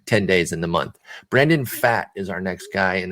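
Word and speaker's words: Brandon Pfaadt: within these next 10 days in the month brandon fat is our next guy and that is how you pronounce it it's p f a a d t p f a a d t brandon fat and um he spent most of his time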